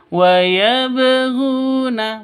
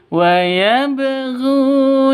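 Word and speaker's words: وَيَبْغُونَ: Wabghuna seperti itu cara bacanya dipantulkan. Waabhuna bukan cara bacanya bukan seperti ini. Waabhuna, bukan seperti itu. Tapi wayabghuna.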